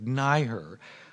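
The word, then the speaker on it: NYHER: And do you say NY-HER? How do you pronounce the acronym? Somebody yell it out. NYHE. NY-HER. Okay, like NYCHA. Okay, so great. Okay, NY-HER.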